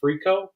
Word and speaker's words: fricot: Dennis, I ran into something I didn't know before about an Acadian version of chicken and dumplings called chicken fricot. How do you pronounce that?